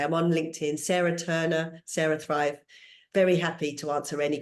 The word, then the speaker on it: CeraThrive: questions yeah so it's Sarah Thrive like you say it's spelled like the brain way so it's c r a Sarah Thrive like Sarah Bellum or cerebral and everything comes to me